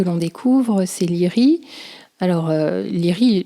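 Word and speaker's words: Laoghaire: découvre ces lits alors leary dans le bouquin c'est l'orthographe est très bizarre donc je je fais confiance aux doublures et d'ailleurs pour l'avoir vu en vo c'est aussi comme ça qu'on prononce donc lire issa du jeune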